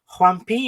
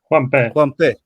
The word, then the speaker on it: Juanpe: Is it Juanpi or Juanpe? Juanpe. Juanpe.